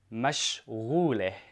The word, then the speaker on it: مشغولة: And for a woman, I say mashghuleh. Mashghuleh. So what I did here, I just added the ending eh. So mashghul, mashghuleh.